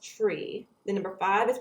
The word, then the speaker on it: three: a few exceptions uh the number three is pronounced tree the number five is